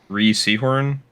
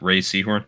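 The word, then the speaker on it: Rhea Seehorn: 'Cause I think Ree Seahorn or Ray. It's Ray, I believe, is actually how you pronounce that. Ray Seahorn.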